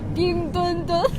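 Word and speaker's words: 冰墩墩: वो खुसूसी गुड़िया है और इसका नाम है पिंगदुनदुन। आप सही तौर पर प्रोनाउंस कर सकते हैं, मेरे साथ पढ़े पिंगदुनदुन।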